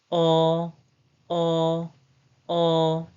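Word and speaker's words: ㅗ: And the next one is o, o, o. The pronunciation is o, o, o, o, o, o, o, o.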